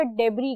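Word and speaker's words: debris: डेबरी मलबा और टुकड़े इसमें एस साइलेंट होता है। इसको हमेशा डेबरी कहते हैं।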